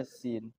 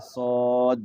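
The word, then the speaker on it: س: Tetapi ketika kita baca Yasin, bacanya pas, iya baca ya pas, sin dibaca sin. Jangan dibaca ya sod gitu ya. Sin dibaca sod baru itu berubah. Nah itu yang salah.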